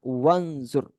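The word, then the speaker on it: وانظر: Ijlis, wajlis bacanya. Wajlis. Unzur, wanzur. Wanzur. Jadi alifnya nih dianggap tidak ada.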